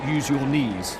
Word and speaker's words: Eugenie: She tells people who don't know her, you pronounce it, use your knees, which is a way of putting people at ease.